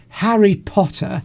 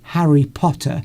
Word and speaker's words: Harry Potter: which is how you would pronounce Harry Potter. Okay. If you were a Cockney, you wouldn't say Harry Potter.